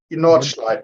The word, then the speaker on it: Nordschleife: and I don't even fully know how to pronounce the Nordschleife. Nordschleife, yes.